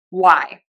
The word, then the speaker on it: why: When you have a w, we are not going to pronounce the h. We are just going to say the w. Why?